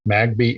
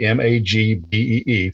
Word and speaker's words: Magby: And I said, okay, so you mean like Knox, N-O-X, Magbee, Magbee, phonetically.